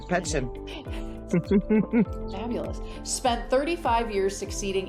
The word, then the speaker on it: Petschen: Kimberly Petschen. Did I pronounce that right, Kimberly? Absolutely. Yes. Very good. Petschen.